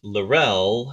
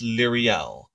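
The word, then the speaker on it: Liriel: Originally, I thought it was Lorel, and then she sent to me the proper way to pronounce names, and I believe it's Lyriel.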